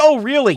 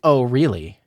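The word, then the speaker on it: Orly: It's pronounced Oh, really? Chat. Want to know something else? I'm not really Russian and my last name sounds like Oh, really?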